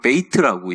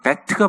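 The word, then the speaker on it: בית: 그래서 이게 발음들이 원래 발음으로 하지 않고 많이 하는데 미국 사람들 이걸 베이트라고 얘기하는데 사실은 정확하게 그 히브리 발음은 베트가 맞습니다.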